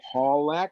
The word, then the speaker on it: Pawlak: Pawlak, she inquired, stressing the first syllable, speaking with a distinctly British accent.